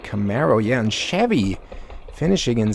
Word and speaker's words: Camaro: Took the speed out of that Camaro, or Camaro. I think it was originally pronounced Camaro, but now they're calling it Camaro.